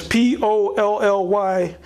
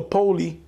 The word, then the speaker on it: Polly: The Polly is P-O-L-L-Y. It's either pronounced Polly or Poli. I would say Polly.